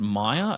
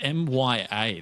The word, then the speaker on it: Mya: Is it pronounced Maya? It's Mya. That's not how you spell anything.